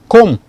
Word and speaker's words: comb: Comb. The B is not pronounced.